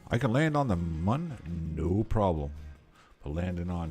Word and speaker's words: Mun: Does it rhyme with soon or with sun? I think it rhymes with sun because it's mun.